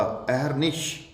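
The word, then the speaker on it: अहर्निश: अब अगली अहरनिश, अहरनिश जी नहीं, रे पूरा नहीं होगा, रे होगा आधा, जो ऊपर चढ़ा होगा रेफ बन के, और शे शरबत का होगा, अहरनिश, अहरनिश।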